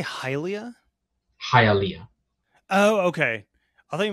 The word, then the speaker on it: Hialeah: not very problem either would you say hylia Hialeah oh okay I thought you meant like Zelda